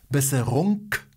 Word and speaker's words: Besserung: Gute Besserung. Gute Besserung. Gute Besserung. Gute Besserung. Besserung. Besserung. UNG jest takie połknięte.